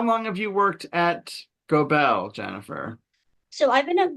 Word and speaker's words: Gobel: Yeah, and it's Gobel, you said, right? Not I Global, mispronounced it.